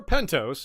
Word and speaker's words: Pentos: Pentos, or Pentos if you prefer, that rhymes with Mentos.